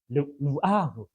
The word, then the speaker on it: 루아흐: 히브리어로 르아흐 발음은 별로 좋지 않은데 루아흐 이런 말이에요.